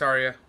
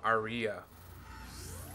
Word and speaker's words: Aria: all right what's next Arya are you no Aria gotta say it right we're almost there Shepard